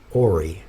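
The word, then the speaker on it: hoary: Hy oh grayish white it's pronounced ory Hy Hy you know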